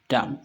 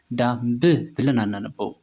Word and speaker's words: dumb: ማለት ነው። ራክ DUMB B is silent in this word በዚህኛው ቃል ደግሞ ቢ ሳይለንት ይሆናል ማለት ነው። ዳም ልክ እንደዚህ ብቻ ማለት ነው። ቢ ሳይለንት ስለሆነ ማለት ነው። ዳምብ ብለን አናነበውም። ዳም ኦኬ ኔክስት LAMB